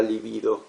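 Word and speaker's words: libido: ¿Cómo se pronuncia la palabra livido? Como le estoy diciendo. Livido. Sí. Es una palabra grave. está acentuado en la segunda sílaba.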